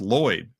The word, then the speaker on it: Lloyd: And he's like, "It's pronounced Lloyd." And they're like, "Oh, we've been saying it wrong. We've been wrong for years." Right. It's, "Oh, it's not Lord, it's Lloyd."